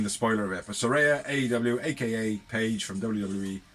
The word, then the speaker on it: Saraya: So yeah, Saraya is all elite. A leg end. And it's pronounced Saraya, because she said so on a tweet earlier.